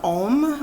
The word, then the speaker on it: Om: A-U-M makes the sound Om, which represents the beginning, middle, and end, and becomes a sacred syllable.